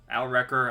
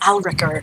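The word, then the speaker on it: Alrekr: it alec here sorry atticure here is your pronunciation well here's your spelling yarl a-l-r-e-k-r al wrecker alec here one of those two ricker yes al ricker we're going to go help out y'all alright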